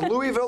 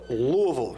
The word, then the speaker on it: Louisville: not I wasn't planning on it it's not pronounced Louisville or Louisville it's Louisville you have like like swallow that s Louis